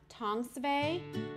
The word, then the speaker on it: Thongsaveui: So this, the word, my word first, this is how it's spelled. THONGSAVEUI, Tongsvay, but it doesn't really pronounce that way, the way it spells.